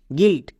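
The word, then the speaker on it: guilt: Sound দেই প্রত্যেকটা দেখো যেমন জি ইউ আই এলটি গিলড এখানে ইউ আই জি এবং এল এই দুটোর মাঝখানে আছে। তার মানে এর জন্য আমরা হস্তিকার সাউন্ড করব।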